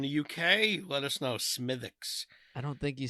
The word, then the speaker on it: Smithwick's: I think it's pronounced Smithix. I've heard Smithix? that. I've heard that said in a bar.